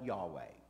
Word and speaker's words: Yahweh: Now, scholars, a lot of times they will add an A and E and call it Yahweh. Y'all see that? That's extra. You don't have to pay for that. So whenever you hear people saying Yahweh, they're referring back to this unpronounceable name here.